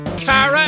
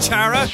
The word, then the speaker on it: Chara: I should probably start pronouncing my character's name as Kara as well instead of Chara, because it's supposed to be short for character.